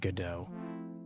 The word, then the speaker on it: Godot: Oh boy, I think it's pronounced Godot. It looks like it, like Godod.